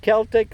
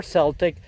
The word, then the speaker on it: Celtic: Anyway, whether you pronounce it Celtic or Celtic, this is a really good plant that, as you see, was introduced through proven winners.